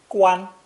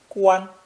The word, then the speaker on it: 关: This character is pronounced first tone, 关, 关, with the basic meaning